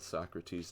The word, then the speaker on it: Socrates: good no right what so crates so crates Johnson that's how they pronounced it oh my gosh well